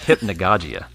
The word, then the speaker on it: hypnagogia: research I did was figured out how to pronounce hypnagogic. But it is hypnagogic and hypnagogia.